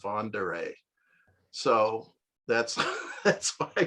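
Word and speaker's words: Von der Ahe: it i mean i i pronounced it fonder a because there was a moving company in st louis with a slogan all the way with van der ay so that's that's what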